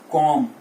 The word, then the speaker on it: comb: तो यहां पे हमने इसको कॉम्ब पढ़ा, ये कॉम्ब नहीं है, इट इज कॉम्ब। B is silent, COMB इज कॉम्ब, इट इज नॉट कॉम्ब।